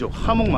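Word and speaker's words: jamón: Jamon: Not “jam-on,” it’s “hamon.”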